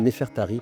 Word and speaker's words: Nefertari: Avec ces cinq glyffes, on obtient le nom de la reine Nefertirie qui se traduit par la plus belle de toutes. Les Égyptologues la nomment Nefertarie pour éviter que le public la confonde avec Nefertiti.